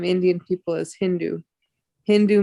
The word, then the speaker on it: Hindu: Hindu means there is one river, Sindhu. The Mohammedans, they pronounce Sa as Ha. So those who were on the other side of the Hindu River, they were called Hindus.